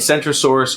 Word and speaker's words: Centrosaurus: the kentosaurus and centrosaurus spelled differently they are pronounced differently as well kendrosaurus with a hard k and centrosaurus with a soft seat this is why renaming